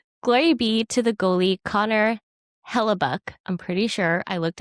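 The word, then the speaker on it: Connor Hellebuyck: Glory be to the goalie, Connor Hellebuck.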